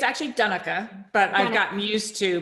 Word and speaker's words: Donnica: Donna am I pronounced in donek am I saying it right well it's actually done oka but I've gotten used to people want to